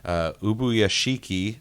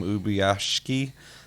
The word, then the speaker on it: Ubuyashiki: Muzan has shown up, and he is talking to Ubuyashiki. I think that's how you say his name, Ubuyashiki.